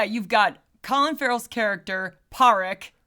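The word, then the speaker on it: Pádraic: So, yeah, you've got Colin Frell's character, Paric, and that's that's how they say it. It's spelled very differently. They're very Celtic. Parrick Sulawan, which is Sulu Sulan, which is Sullivan, give or take.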